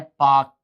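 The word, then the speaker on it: Palk: English में अगर पाक लिखा आएगा तो पी ए के लिखा नहीं आगा। पी ए एल के एल साइलेंट होता है इसमें। पाल्क स्टेट ऐसे बोलने में लेकिन एल नहीं बोला जाता।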